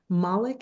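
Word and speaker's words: Mollick: Uh, a brief history of intelligence, thinking fast and slow, and co-intelligence by Ethan Malik. Is that how you pronounce it?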